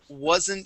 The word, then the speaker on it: wasn't: Go to the word wasn't sure. So here we want to use a voiced S sound. Was. Wasn't sure. You said wasn't. Okay, it is was.